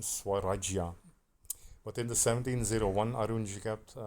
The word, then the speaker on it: Swarajya: On the 7th October 1673, the Marathas won the fort and included it in the Shwariyaji. I need to work on the pronunciation, Swarajya.